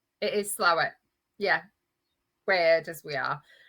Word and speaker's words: Slaithwaite: Otherwise pronounced Slaithwaite, but Slough. Yeah. I'm assured that Yorkshire people call it Slough. It is Slough.